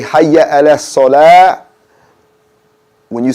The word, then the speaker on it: salah: And remember to not put a T on the end of salah. It's a soft H here. So you say Hayya ala salah.